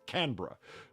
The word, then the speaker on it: Canberra: It's Canra.